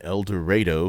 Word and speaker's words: El Dorado: We are in El Dorado, Kansas, and I promise you that's how we actually pronounce it there.